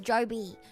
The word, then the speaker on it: Job: No, I'm refusing to call it Joe B. It's written like job, and I'll pronounce it like job. There's no way J-O-B is pronounced Joe B, because that is fucking crazy.